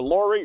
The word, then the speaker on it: Lori: Thanks a lot to Lori, rhymes with Tori.